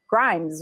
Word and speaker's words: Grimes: Grimes, right?